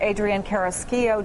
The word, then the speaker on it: Carrasquillo: I want to bring in NBC Latino producer Adrian Carrasquillo. Did I pronounce that right?